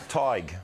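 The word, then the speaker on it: Tadhg: so I know that the correct pronunciation of your name is that's right tige very good okay if they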